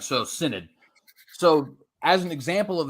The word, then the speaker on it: Synod: for example uh the speaking of the Amazonian Cyanide and I noticed you pronounced it Synod am I pronouncing it wrong it's uh how